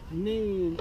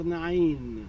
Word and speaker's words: Nain: There is another time, until today, a town that is called Nain or Nain, the way you like to pronounce it.